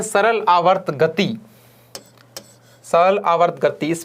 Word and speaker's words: आवर्ती: दोनों के उच्चारण में भी फर्क है। वो है आवृत्ति, यह है आवर्ती।